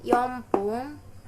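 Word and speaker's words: 四分: Nah, kalau menit itu belakangnya ada yang pakai pun atau fun. Jadi, kalau misalkan bacanya itu pung dan fung. Jadi kalau 1 menit itu ipung, kalau 2 menit itu nifun, nifung, kalau 3 menit itu sampung. Nah, kalau 4 menit yompung, kalau 5 menit gofung, 6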